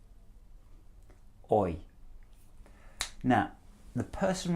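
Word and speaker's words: hoy: repeat it after me oi oi now the person right at the back I heard you pronounce the H you don't pronounce the H it's oh boy so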